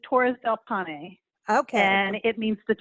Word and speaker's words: Torres del Paine: you say is amazing so it's torres del paine how do we pronounce this the National Park is torres del Pawnee okay and it means